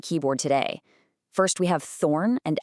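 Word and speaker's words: þ: First, we have thorn and f, both of which represented the sus sound, like in this or that.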